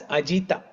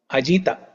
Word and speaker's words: ajita: there is a apostrophe that means that A has to be added there while pronouncing that word it has a has to be added ajita uh yesterday Ankita you